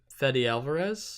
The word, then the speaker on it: Fede Alvarez: nothing in it it's disappointing because it's from fede alvarez mm-hmm yeah that's how you say his name